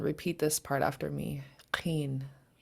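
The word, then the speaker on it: ḵeen: Qeen. Yeah, it's pronounced in the back of your throat since it's underlined.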